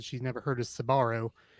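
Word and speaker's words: Sbarro: she's never heard of sabaro sabaro actually spelled s-b-a-r-r-o so for whatever that's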